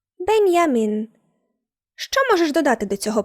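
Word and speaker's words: Benjamin: Якщо німецькою говорять, наприклад, про Бенджаміна Франкліна, то скажуть Бенджамін Франклін. Але якщо мова йде про німця, то вимовляємо це ім'я німецькою. Бенямін.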